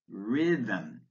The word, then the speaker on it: rhythm: Words with a silent H, dahlia, exhibit, exhibition, ghastly, ghetto, air, honest, honor, hour, John, rhapsody, rhetoric, rhinoceros, rhododendron, rhubarb, rhythm, spaghetti, vehicle.